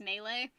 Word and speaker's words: Melee: smash bros melee mealy i always pronounced it melee as a kid because i didn't know how to pronounce it and then i learned it was pronounced melee and i never really